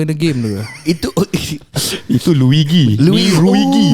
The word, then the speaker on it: Luigi: itu Luigi. Luigi. No, you must say it properly. It's Luigi.